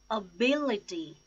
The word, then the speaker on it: ability: words to start with ability ability Oh bill a tee the stress is on second syllable bill ability accommodate accommodate